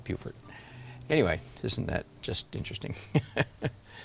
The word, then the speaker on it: Beaufort: South Carolina has a town spelled exactly the same way, pronounced Beaufort. I think it's Beaufort. No, Beaufort. Yeah, definitely Beaufort.